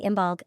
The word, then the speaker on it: Imbolc: the holiday what is imul a short history you might know imul by other names including imog I a more accurate Gaelic imul pronunciation and Bridget's day we will